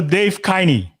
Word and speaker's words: Dave Kleine: do we have here dave kleine i hope i pronounce your name correctly because i remember it's supposed to be pronounced along with shiny right so dave kiney there you go all